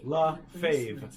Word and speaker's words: LaFave: I'll do it phonetically in my head. Say your name loud. La Fave.